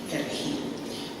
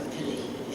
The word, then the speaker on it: perejil: workers speak this word, perejil. And the Haitians could not pronounce the R, so it came out as a perejil.